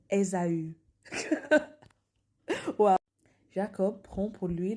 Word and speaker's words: Ésaü: On prononce, on prononce Esau comme Ésaü.